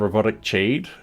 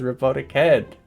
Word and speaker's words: RoboticHead: Don't worry, I get people pronouncing my name Robotic Cheed. And I'm just like, but it's Robotic Head.